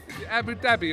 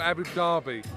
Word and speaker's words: Abu Dhabi: nice little launch by Abu Dhabi first the mini mate welcome Abu Dhabi or Abby Darby Abby Darby sorry my pronunciation was all wrong there wasn't it Essex Brighton now